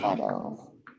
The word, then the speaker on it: befuddle: It's an open syllable, befuddle. Befuddle. Okay, thank you. It is really common in English to throw that schwa in at different times in different places. It's that unstressed syllable. And in this word, fud is the stressed syllable, befuddle. So some people might say befuddle.